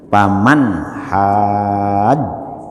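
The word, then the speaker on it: فَمَنْ حَاجَّكَ: Kan paman hajjaka, paman hajja, itu bacanya itu harus dowo itu.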